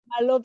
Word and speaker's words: Malope: Malope, yes, or Malope, yes, that's good. That's good enough.